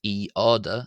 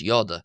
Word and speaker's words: ⲓⲟⲧⲁ: However, you'll notice that in the letter itself is not pronounced as eada. It's pronounced as yada with a y.